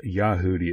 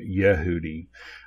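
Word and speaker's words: יהודי: Rafa here however it he says yahoodi issue I would pronounce it Yehudi but yahoodi is the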